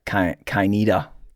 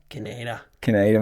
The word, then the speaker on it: Kaineder: I guess if you look at the origin of a word and it's from Austria. Austrian. So I guess you'd say it like Kaineder. Kaineder. But with the Aussie thing, it's just Kaineder.